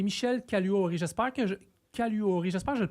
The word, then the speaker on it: Caluori: J'espère que je Caluori, j'espère je le prononce comme faut Michel. Oui, c'est bien ça. Vous prononcez exactement comme ça s'écrit.